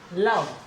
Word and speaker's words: love: जैसे वर्ड है LOVE, लव, लव, तो क्या साउंड आ रही है, ले, ले के बाद ए की साउंड आ रही है, और ये ए हमने बना दिया ए की साउंड, यहां से ए की साउंड ये रही, लव, ये हो गया लव।